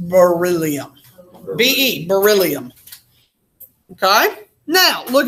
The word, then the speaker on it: beryllium: It's pronounced beryllium.